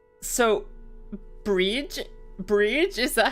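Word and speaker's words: Bríd: a famous Irish saint it's pronounced with a long e similar to the English word breed but the F final D is like the D in brid Bri almost a j sound so brige Bri is that how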